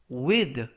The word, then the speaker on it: with: 뜻이 되겠습니다 2번 표현은 발음이 두 가지가 가능한데요 with with 또는 with 라고 발음하시면 되겠습니다 그래서가 번데기 발음 또는 돼지꼬리 발음 둘 다 가능한데요 품사는 전치사 뜻은 뭐뭐와